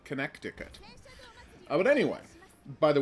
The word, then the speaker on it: Connecticut: the connected connecticut because that's how you spell connecticut with an extra c in there that is silent for no good reason don't know why i'm